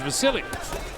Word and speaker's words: Vasiliy: But But he says, and the people around him say his name is Vasiliy.